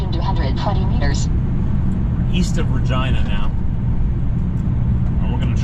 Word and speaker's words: Regina: This is Regina, pronounced just like that.